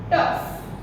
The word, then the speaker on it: tough: In pronunciation, when this GH, sometimes GH when it is used together, then the pronunciation is not G. The new pronunciation G. The pronunciation is F. F. Right? For example, rough. Rough. Then afterward, tough. See, GH is there, but we are speaking F.